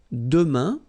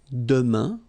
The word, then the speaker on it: demain: For the future now, we've got demain, and it means tomorrow. Demain, remember, when you combine this A-I-N, you get the sound un, demain, demain, okay, then la semaine prochaine, so it's next week, okay?